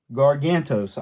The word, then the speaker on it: Gargantos: wrong so I'm gonna look at the Box gargantos I said it right he looks good too